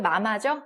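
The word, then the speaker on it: 妈妈: M-A-M-A. 딱 봐도 마마죠? 네, 그래서 일성이 붙었으니까 어떻게 읽습니까? 마마. 이렇게 읽습니다.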